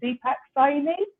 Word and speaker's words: Deepak Saini: today we have oh I don't want to get your name on Deepak sign in perfect perfect nothing worse than getting somebody's name wrong and Deepak is an anti-aging coach and